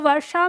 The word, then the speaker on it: वर्षा: हम जब बोलते हैं वर्षा तो वर्षा में हमारा र बड़ा हल्का सा लगता है।